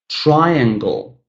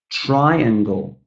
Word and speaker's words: triangle: Third one, guys, the same situation, 3 syllables, but the first syllable is stressed. Number 5, triangle, triangle.